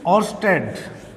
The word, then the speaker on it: Oersted: Yes, pronounce करो इसको। This is ऑर्स्टेड।